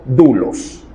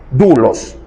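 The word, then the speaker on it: δοῦλος: el término en griego dulos que se escribe doulos dulos Qué significa siervo sinónimo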